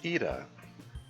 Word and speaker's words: Ida: Miss Ida, because now I know apparently that's how her name is supposed to be pronounced.